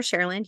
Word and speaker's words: Cherland: Cherland. You can call me or Dr. Cherland. You might know the singer named Cher. I live in her land.